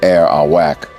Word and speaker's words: Arawak: Their name pronounced air Awak refers to their main crop cassava root. The Arawak are a group of indigenous peoples of northern South America and of the Caribbean.